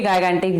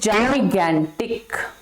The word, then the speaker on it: gigantic: हैं, बच्चे क्या बड़े भी गाइगेंटिक बोलते हैं, बट इट इज नॉट गाइगेंटिक, इट इज जाइगेंटिक। जी के बाद आई है, ज बोला गया, जी के बाद ए है, ग बोला गया, तो इसकी प्रोनाउंसिएशन क्या हो गई, जाइगेंटिक, ठीक है।